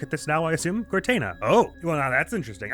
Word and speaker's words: Guertena: And, otherwise, notes-wise, the wonderful Matthew the 13th Bard in the comments has kindly informed me it's pronounced Guertena, I think.